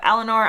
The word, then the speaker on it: Eleanor: And on the topic of Eleanor, I've seen lots of things online that with a British accent, it kind of has a less of an R at the end, whereas I pronounce it Eleanor.